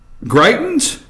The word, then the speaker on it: Greitens: picture up there and and how do I pronounce his name g rei t en s Greitens Greitens okay governor missouri governor of Greitens die